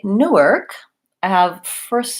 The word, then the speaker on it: Newark: an ass on there Newark and New York I tend to stress the second syllable or both syllables New York but mostly second syllable is more important so the new is the same York has an or vowel so same as this the word you're with okay New York versus